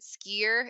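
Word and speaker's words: skyr: yogurt and then also I think you pronounce it skier it's an Icelandic yogurt similar to Greek yogurt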